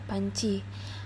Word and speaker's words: panci: nyambung selanjutnya pada kata panci Panci di sini sama seperti pada kata janji sebelumnya jika pada pengucapannya itu ada seperti huruf y di antara n dan C selanjutnya ada kata